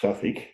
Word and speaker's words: Southwark: We had Southwark, pronounced Suffolk, and the horrible brew called West End, which fair dinkum was barely drinkable.